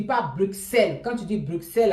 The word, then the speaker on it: Bruxelles: On ne prononce pas X, Bruxelles. On prononce comme si c'était deux S, Bruxelles.